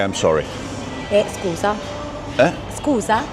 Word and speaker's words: scusa: Scusa. Eh? Scusa? Scooter? Scusa. Like scooter? No, scusa.